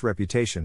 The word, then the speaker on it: reputation: Phonetic Alphabet to pronounce reputation have in mind that the size of the syllable indicates where the accent or stress is in this case the accent is in the third syllable corresponding to Tay who